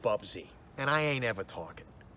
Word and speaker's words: Bubsy: French use xenophobic bastard bobzo it's pronounced Bubsy and I ain't ever